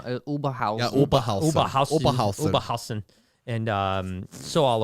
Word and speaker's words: Oberhausen: I've spent time in Ham and Oberhausen and Stuttgart. You said it wrong. Oberhausen.